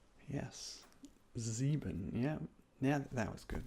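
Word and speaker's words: sieben: Z very good next up is seven equals zebon yes zebin yeah yeah that was good that was good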